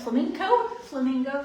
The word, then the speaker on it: flamenco: We're going to, is it flamenco? Flamenco? How do you spell it? Flamenco. Flamenco? Yeah. Flamenco. Flamenco is the dance and the presentation. Flamingo is the pink bird.